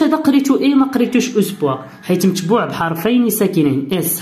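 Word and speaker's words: espoir: نعطيك كاع مثال، بحال هاد الكلمه كتقرا اس، هاد ما كتقراش اوسبوار اوسبوار، لا هادي كتقرا اسبوار اي، وما كنحاولش نقراها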